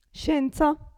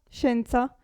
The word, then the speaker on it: scienza: già fatto prima l'esempio hotel adesso Provate a pronunciare queste queste parole sciupare sciupare scienza scienza vi ricordate sci sci sciupare scienza qui gatto gatto cielo Celeste qui è facilissimo